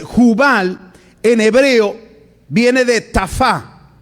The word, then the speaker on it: tafá: Entonces Jubal en hebreo viene de tafá. Tafá, T-A-F, acento en la A, última A, tafá.